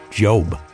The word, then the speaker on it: Job: As much as I think you're right about his dedication, in this particular situation, this person's name is pronounced Job.